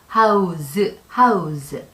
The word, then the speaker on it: house: 그래서 house, 스 발음이 나죠. 근데 이게 z, house 라고 발음이 될 때는 집을 제공하다, 살 곳이나 거처 이런 것을 마련하다 라는 뜻으로 사용이 됩니다.